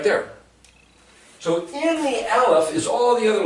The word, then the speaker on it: Aleph: Aleph is the silent letter, it doesn't speak. But it speaks in the other letters.